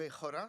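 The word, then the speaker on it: χώρα: Et le 3e concept que Platon propose, c'est le concept de ekora, ou echora, s'il faut le prononcer en grec, qui est cette chose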